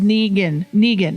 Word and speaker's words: Negan: It's pronounced Negan.